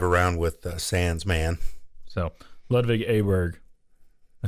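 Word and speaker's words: Ludvig Åberg: that uh drive around with sans's man so lvic aberer I said it wrong again didn't I no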